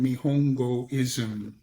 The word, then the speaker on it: Nihongoism: And my focus right now, I have a Substack which is called Nihongoism. Nihongoism. This is a pitch, okay? It's spelled Nihongo.